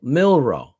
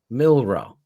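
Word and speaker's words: Milroe: something like that I gotta find it mil milro yeah right milro so he's their quarterback now going forward right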